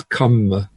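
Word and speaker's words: kamma: double b in sanskrit you get karma that rm combination is rather a bit difficult to pronounce so in pali it becomes come god becomes dumb and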